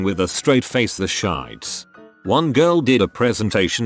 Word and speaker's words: Shiites: I remember in high school one girl was giving a presentation on something and kept mentioning the Shiites but pronounced it shites for her whole 10-minute thing.